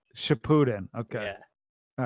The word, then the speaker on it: Shippuden: Is it Shippuden? I It's still don't know how to say it. Shippuden. Shippuden.